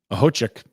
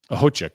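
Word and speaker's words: Okhotiuk: Nikita Ahochik. The K is silent. Don't let it fool you. Ahochik.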